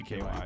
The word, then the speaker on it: CKY: Is it pronounced Sky or do you always just It's say CKY.